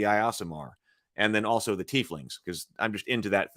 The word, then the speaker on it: tiefling: that thematically so the tieflings are either born in the lower planes or have one or more fiendish ancestors who originated there a tiefling pronounced tiefling is linked by Blood